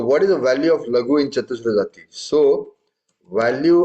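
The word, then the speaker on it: laghu: You said laghi. Hmm? You said laghi, not Oh, lag. sorry. Lagu.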